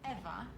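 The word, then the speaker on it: Ewa: Eva is spelled E-W-A, not E-V-E.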